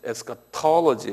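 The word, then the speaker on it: eschatology: 그래서 요 액센트가 어디냐면 에스카톨로지 있어요. 톨로지 이렇게 한번 발음해 보실래요? 에스카톨로지. 그러니까 쉽게 그냥 에스카톨 이렇게 톨로지 이렇게 합니다.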